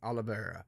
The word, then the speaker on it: Oliveira: The first one is, and this is a guy by the name of Tyler Olivier, Oliveira, I guess say Oliveira. Yeah, we'll say Oliveira. I think that's how you pronounce it.